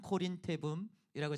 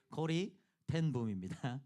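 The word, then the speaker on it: Corrie ten Boom: 아 이분의 이름을 발음하는 것이 정확하게 되는 것이 참 별로 없는 거 같아요. 항상 코린테붐이라고 제가 발음할 때가 많은데 코리텐붐입니다.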